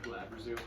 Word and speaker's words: Glabrezu: Yeah, did I just spell it out? I think that's how you say it. Yeah, Glabrezu.